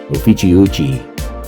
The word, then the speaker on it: Ophiuchi: And Roiushki, Oichi, you put the accent on the U. Oichi.